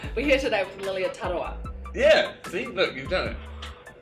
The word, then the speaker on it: Tarawa: Ta, and then like the R is like a D, so Tarawa. No. Yeah. Hi everyone, we're here today with Lilia Tarawa. Hi everyone, we're here today with Lilia Tarawa.